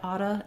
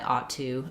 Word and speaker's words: ought to: very natural and typical it's not incorrect or informal to say I otta in American English um so you can pronounce it this way you can also say I ought to and that's also correct um or I ought